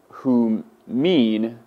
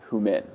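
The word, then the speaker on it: ὑμῖν: So you would pronounce the second person plural as humin, not humin.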